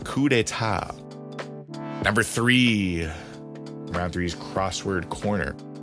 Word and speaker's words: coup d'état: You might have read that as coup d'état, but it's pronounced coup d'état.